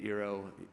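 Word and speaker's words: IRO: called, we named it Eero. Those of you that are wordsmiths in the room realize that's Ori spelled backwards. But we liked the Eero phraseology because it rhymes with hero, and we're supporting the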